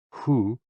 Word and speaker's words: HOO: HOO, pronounced like hu, which is associated with the spleen.